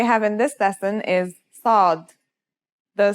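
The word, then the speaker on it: صاد: The sod is basically the strong version of the scene we learned in the last lesson and it kind of sounds like the s in the word saw. This sound is pronounced with your throat constricted.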